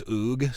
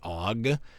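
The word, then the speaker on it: Ogg: Some people pronounce this oog. Some people pronounce it og.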